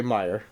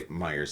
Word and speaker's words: Meijer: Their signs all say Meijer. Yeah, they don't have an S. Well, I say Meijers out here.